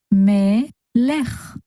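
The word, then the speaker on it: מֶלֶךְ: The last letter here is chaf sofit, with the base sound of ch. A shva at the end of a word is always silent, so we only pronounce the base sound of that letter, which is ch. When we put it all together, we get melech, melech, which means king or a king.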